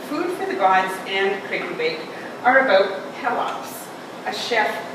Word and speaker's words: Kraken Bake: It is pronounced Kraken Bake, even though the creature is a kraken.